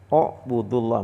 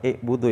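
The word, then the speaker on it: اعْبُدُوا: Buudullah. Bacanya bukan i'budu ya, Pak atau a'budu a'budullah. Kita ngelihat huruf ketiganya. Jadi, alif ain, ba. Ketiganya domah, maka alifnya di domah.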